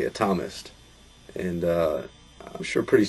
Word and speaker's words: Atomist: if you look it up online uh it's pronounced atomist but we say atomist and uh I'm sure pretty soon they're just